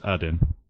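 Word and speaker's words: Aden: like the airport works I guess the stress on the first syllable it's add-in you so yes we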